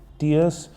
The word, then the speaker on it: tear: Exactly ही same है, लेकिन अगर ये नाउन है TEAR, टीयर, अगर नाउन है तो इसका मतलब होता है आंसू, टीयर्स, और इसका फिर प्रोनाउंसिएशन होगा टीयर, इसका फोनेटिक ट्रांसक्रिप्शन होगा टीयर। और अगर आप इसको वर्ब कंसीडर करते हो तो ये इसका प्रोनाउंसिएशन थोड़ा डिफरेंट होगा, फिर ये हो जाएगा टेयर, टीयर, आंसू, टेयर, और इसका मीनिंग